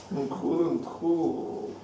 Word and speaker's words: Nkulunkulu: Nkulunkulu. Notice the pronunciation.